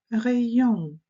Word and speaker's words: rayon: «Rayon» – зверніть, будь ласка, увагу. Y передає звук «і», А в парі з «і» дасть нам звук «е», далі голосний «rayon», «rayon», «rayon».